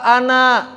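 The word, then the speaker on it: أنا: Dan orang-orang Arab ketika berbicara, kalau bacanya sendirian nggak dibaca an. Saya itu bukan an kan? Apa saya? Ana. Tapi ketika wasol, ananya nggak panjang.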